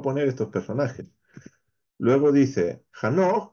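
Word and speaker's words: חנוך: Luego dice Hanoch, que es el nombre de Enoch, en su pronunciación hebrea, también era una excepción en su generación.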